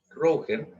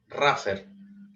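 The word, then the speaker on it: rougher: La primera etapa es la etapa Rauher, Raffer, como está bien pronunciado, ¿cierto?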